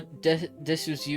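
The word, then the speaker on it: です: I didn't know Desu is silent. I did it right. I thought the U is just read quickly. No, it's it's pretty much silent. It it's it's from what I remember the the that pronunciation wise the U at the end is typically silent and it's a big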